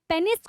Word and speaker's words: पीनस: जब male partner बेटा पेनिस को या पीनस को, करेक्ट प्रोनाउंसिएशन पीनस है, पीनस को विड्रॉ कर